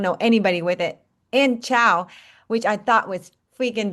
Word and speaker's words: Chau: And Chow, which I thought was freaking Vietnamese, and now I learned it's like Malaysian too.